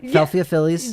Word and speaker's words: Philadelphia Phillies: And a lot of opportunities for the Rockies to continue their winning ways as the Philadelphia Phillies. Am I pronouncing that correctly? Yeah. Philadelphia Phillies.